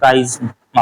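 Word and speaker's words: chiasma: क्या नाम देते हैं काइज्मा क्या देते हैं काइज्मा इंग्लिश में इसमें टी ए साइलेंट होता है लेकिन उसको बोलते हैं काइज्मा है ना जिस एरिया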